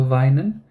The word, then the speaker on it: weinen: And then you have Weinen and not Wienen, because EI, so I and not, so Weinen, then it means to cry. So whenever, idea is that when you are learning new German words, when you see IE, pronounce this as E. When you see EI, pronounce it as I.